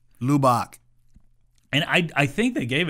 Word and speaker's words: Lubbock: The way she said it was not correct. Lubbock.